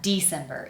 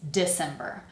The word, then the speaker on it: December: So, you notice we are not saying D. It's not December. It's December. So that I sound like the e but kind of reduced a little bit.